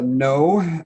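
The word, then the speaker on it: Noe: do my name is no pronounced uh no opposite of yes and if you ask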